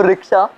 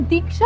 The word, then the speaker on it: दीक्षा: तो रिक्शा, तुम यहाँ आई क्यों? एक मिनट, तुम मुझे रिक्शा क्यों बुलाते हो? मेरा नाम दीक्षा है।